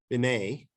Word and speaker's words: Binet: topic this is the stanford binet t is silent it's french iq tests correlate or